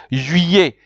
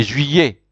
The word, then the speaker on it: juillet: So July is juillet. You notice that in French, when two L's follows an I, you have to pronounce them like a Y. So you say juillet.